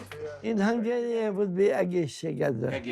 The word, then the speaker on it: Egészségedre: In Hungarian, it would be "Egészségedre." Egészségedre. I'll never learn to pronounce that.